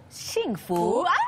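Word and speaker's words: 幸福: artinya bless atau diberkati ya kalau bahasa Mandari bacanya gimana sih itu singfu shingfu betul sekali shingu Shu itu Shifu teh oh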